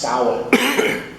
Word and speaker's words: Samhain: It's actually spelled Sanhihain, I think, but it's pronounced Samhain. Samhain.